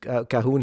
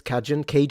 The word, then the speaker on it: Cajun: First Cahoon he met, he just stared open-mouthed. Yeah, did I mispronounce this? Cajun? Oh, Cajun. That's Cajun.